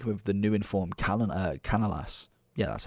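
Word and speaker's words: Canales: you could link him with the new informed Canalas.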